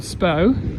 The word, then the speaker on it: Spui: So, coming up to one of the prettiest little squares at Christmas time, called Spui. Spui, pronounced row.